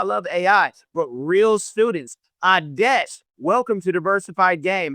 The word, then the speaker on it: Aadesh: You and it's Aadesh, right? I'm saying it correctly? Aadesh, yeah.